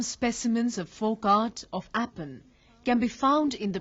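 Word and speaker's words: Aipan: The folk art of Kumaon is known as Apan, to be pronounced Apan, which covers a large canvas of religious and ritualistic life.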